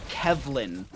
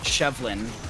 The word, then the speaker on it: Kevlin: It's Kevlin, not Shevlin. Either way, that's a little update right there as Fats tries to go for the Celestial Charge.